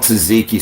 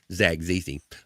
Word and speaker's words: tzatziki: I got that gotta get that because it's spelled TSA or something. Tzatziki, I gotta get that tzatziki sauce. So if you're Theo Vaughn, you call it Zagziki.